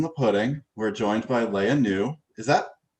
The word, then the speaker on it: Lea Neu: We're joined by Lea Neu. Is that correct pronunciation? Leah. Lea Neu.